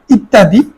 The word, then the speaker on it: ইত্যাদি: ইত্যাদি খেয়াল কর ইত্যাদি জফলার কারণে দুইটা ত উচ্চারণ হবে ইত্যাদি জফলা যদি শব্দের মাঝখানে